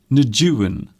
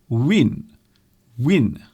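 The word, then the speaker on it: Nguyễn: always get wrong because I don't think you pronounce a juin like that now I read somewhere that you actually pronounce it win-win so if you can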